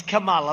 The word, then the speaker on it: Kamala: It's Kamala, like a comma, Kamala.